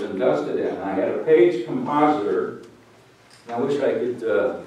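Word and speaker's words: Paige: His name is James Page. And it's spelled different. It's P-A-I-G-E.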